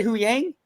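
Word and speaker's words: Huyang: we love Huang how do you say it who Yang oh yeah who Yang yes oh man Kotor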